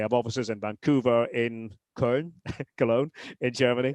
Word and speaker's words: Köln: It's hundreds, thousands of people who have different responsibilities within the game, and they have offices in Vancouver, in Köln, Cologne, in Germany. Köln.